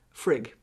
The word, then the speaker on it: Frigg: Alicia has asked, can you speak a little bit about the relationship between Freya and Frigg? Or Frigga, so it's pronounced different ways.